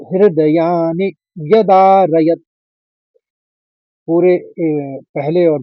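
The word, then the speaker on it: हृदयानि: बोलना है हस्व बोलेंगे दूसरे चरण में देखिए हृदयानी नी छोटी इ की मात्रा में है तो हस्व बोलेंगे हृदयानी व्य शब्द को तोड़ लेंगे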